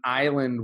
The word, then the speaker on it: island: teach them the pronunciation in Island we don't say the S so it's island so I draw Island